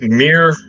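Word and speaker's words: Mere: It's It's Mir. M E R E. M E R is how I've learned that it is pronounced.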